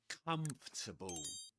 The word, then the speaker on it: comfortable: Pretend it's spelled like this. Three syllables. Comable. Comfortable. Comfortable. Okay. This is like a kind of trick, a pronunciation for you to be able to pronounce this word comfortable. Comfortable. And again, just like in hierarchy, the main stress goes on the first syllable.